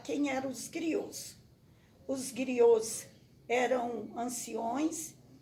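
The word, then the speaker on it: griot: os gringos que é uma palavra francês que a gente pronuncia griô zhu ai que acontece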